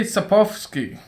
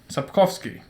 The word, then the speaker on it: Sapkowski: so actually the guy who made all of this uh well let me try to actually pronounce his name andrei sapovsky sapkowski and he's a polish fantasy writer and basically